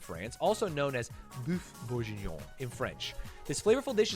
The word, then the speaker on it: bourguignon: Beef How do you pronounce that word? Hello? Any phonetic Andes? It's not beef bourguignon. Bourguignon.